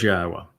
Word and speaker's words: Yahowa: So it is Yahwa. If somebody gives you any other name, they are deceiving you. We know the pronunciation of Yahwa's name.